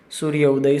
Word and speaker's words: सूर्योदय: आप स्वयं देखिए, वर्णों की अत्यंत समीपता अर्थात सूर्य उदय, तो उसको हम प्रोनाउंस करते समय उसके बीच में 1 सेकंड क्या, मिली सेकंड का भी गैप नहीं रखेंगे। आप स्वयं प्रयत्न कीजिएगा। जैसे सूर्योदय सूर्योदय सूर्योदय सूर्योदय सूर्योदय